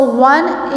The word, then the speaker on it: one: So 1, it doesn't start, it sounds like W sound.